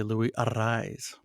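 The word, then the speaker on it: Luis Arráez: and uh he um he does the rolling of the RS with a double r so uh it when they announce him they say Lou arise so that's the right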